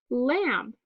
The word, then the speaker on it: lamb: So we have silent letter W in the word wren, silent letter K in the word Knox, silent letter B in the word lamb.